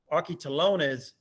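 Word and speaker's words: ἀρχιτελώνης: tax collector the original greek word which is pronounced aki talones for the chief public for the chief publican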